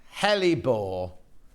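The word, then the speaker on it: hellebore: what did I say how do I say it wrong then it's pronounced heli bore kind regards Lynn well you say helipore I say heal your boy oh I know I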